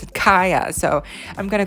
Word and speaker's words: Kaya: because we all thought you were supposed to pronounce her name like Kia, like the car, but no, you're supposed to pronounce it Kaya.